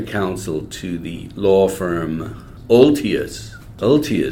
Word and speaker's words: Olthuis: to the law firm Altius Peltier sounds almost Roman Altius is that's a Dutch name it's actually the Canadian pronunciation in Dutch would be all theis hmm clear is that